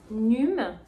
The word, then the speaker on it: NUUM: Donc cette marque ici, c'est la marque NUM. Ça s'écrit N-U-U-M.